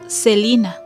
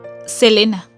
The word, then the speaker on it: Selena: pronunciación de su nombre los medios de comunicación y fans de monterrey sabían que su nombre se pronunciaba celina pero en otras partes la llamaban tal y como su nombre se escribe selena esto se debía a que las palabras en español suelen pronunciarse cómo se escriben en alguna ocasión me